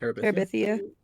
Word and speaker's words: Terabithia: But I do need to start Bridge to never gonna pronounce right. Terabithia? Terabithia.